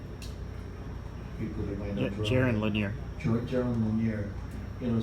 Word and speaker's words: Jaron Lanier: It is Jerome, how do you pronounce it? Jerome Lanier? People that might know Jaron Lanier.